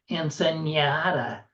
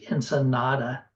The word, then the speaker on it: Ensenada: He throws the tee away, tells her none too gently that it's pronounced Ensenada, and the next nya, nya, nya could end in divorce. Not for the presence or absence of a tilde, but for the mocking